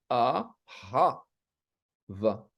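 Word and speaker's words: אהבה: Et c'est bien de prononcer le A, ha, va. Ahava. On doit entendre le ha. Pas le dernier. Le dernier, il est muet toujours. Ouais.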